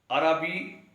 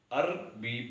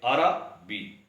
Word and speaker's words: عربی: ناراضگی پڑھنا غلط ہے۔ عربی درست تلفظ ہے، عربی پڑھنا غلط ہے۔ یعنی عموماً پڑھے لکھے لوگ بھی عربی پڑھتے ہیں اس لفظ کو، حالانکہ عربی رے پر بھی زبر ادا کرنی ہے۔ ایسے ہی ادبی